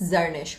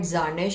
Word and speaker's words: Zarnish: Please pronounce your name. It's Zarnish. A lot of people call it Zarnish, and that pisses me off. But it's Zarnish.